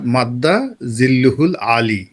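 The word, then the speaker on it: مد ظله العالي: বলেছিলেন মাদ্দা জিল্লুহুল আলী উচ্চারণটা যদি ওই সময় তার সঠিক হয়নি আরবিতে এটা হল দেখবেন যে অমুক হুজুরের নাম ধরেন হযরত আল্লামা খলিল শাহ হযরত আল্লামা খলিল শাহ মাদ্দা জিল্লুহুল আলী এ হল উচ্চারণ অর্থাৎ তার আশীর্বাদ এই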